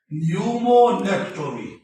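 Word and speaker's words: pneumonectomy: को कहा जाता है न्यूमोनेक्टोमी। ये पी साइलेंट है, न्यूमोनेक्टोमी।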